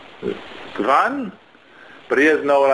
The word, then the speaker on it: wann: Well, it's definitely spelled with a W, but then it's A-N-N.